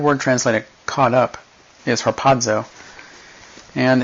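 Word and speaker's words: ἁρπάζω: Well, that word translated caught up is harpazo. And it's not spelled with a D, but it's pronounced with one because Greek.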